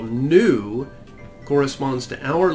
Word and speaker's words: nu: So we kind of have to remember that this letter that we call nu corresponds to our letter N.